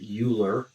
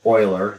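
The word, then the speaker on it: Euler: named after this guy Leonard uler or Oiler the correct way to say it um which uh addresses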